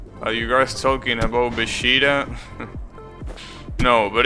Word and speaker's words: Vegeta: The problem is that by doing that, you're basically changing the pronunciation completely. So it's not Beshida, it's Vegeta, which is completely stupid, because there is no